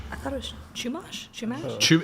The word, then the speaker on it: Chumash: Yeah, we mispronounced the chumash. I thought it was Chumash. Chumash.